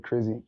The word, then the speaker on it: KrizE: Izzy, ooh, Izzy, like, so so I just said Krizzy, and the way you would spell it would be Krizzy, but I just put Kriz, capital E, just Krizzy.